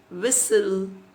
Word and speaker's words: whistle: Other examples like pneumonia, psychology, wherein P is silent, island, S is silent, whistle, T is silent, campaign, G is silent, bristle, T is silent.